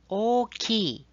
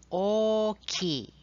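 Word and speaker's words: 大きい: We have the word oki, which means big. So pay attention to the stretch O sound in the word. Try say it slowly. Oki. Let's emphasize the O to stretch the vowel.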